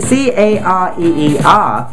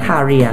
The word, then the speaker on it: career: นี้ หมาย ถึง คำ ว่า Korea Korea ที่ สะกด แบบ นี้ c a r e e r Korea C Cat a America R Russia E England a England R Russia Korea ไม่ ได้ ออก เสียง ว่า Kia นะ แต่ ออก เสียง ว่า k c Career